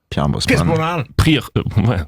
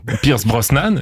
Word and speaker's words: Pierce Brosnan: J'ai un dernier exemple plus perso d'un mot que moi j'ai très longtemps mal prononcé, c'est le nom d'une personnalité. Moi, j'ai grandi dans les années 90, une époque où James Bond était incarné au cinéma par Pierre Brosn Pierce Brosnan, c'est ça ?